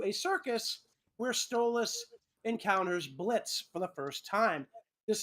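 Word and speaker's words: Blitzø: his name was pronounced blitza which is apparently how it was originally pronounced he has since decided he's going to just not pronounce the O in his name so Blitz basically gets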